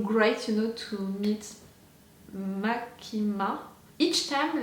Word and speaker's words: Makima: you know to meet makima each time like I have an issue with her name is it's not mikami so it's makima but is it no